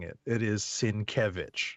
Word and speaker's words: Sienkiewicz: i am comfortable when i see his name pronouncing it it is sin kevich right and i and i definitely chuckled when